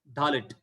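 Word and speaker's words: דלת: But that red color Dalet is like DH sound, Dalit, Dalit.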